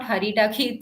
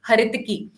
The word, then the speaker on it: haritaki: as ala Baki har haritaki it's actually not haritaki it should be pronounced as haritaki okay so these again like I told you